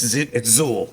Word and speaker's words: Xul: It's XUL with a Z.